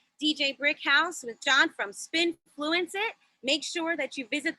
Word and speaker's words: spINFLUENCEit: So all social media is spINFLUENCEit, and that is spelled SPINFLUENCEIT. I know it's a little bit of a breath, but it's basically the word influence, spin in the beginning, and IT on the end.